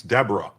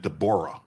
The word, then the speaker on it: Deborah: Maryland US District Judge Dborah Bardman, and you might think it's Deborah, but she pronounces it Dborah, a n a Biden appointee, is a national disgrace.